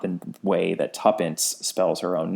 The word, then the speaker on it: Tuppence: the letter tant but it's spelled t wo pen CE which is of course tuppence is an abbreviation for two pence I don't I don't